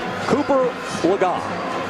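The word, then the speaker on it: Cooper Legas: Cooper Lagat. That is the correct pronunciation, as we corrected ourselves just a few minutes ago.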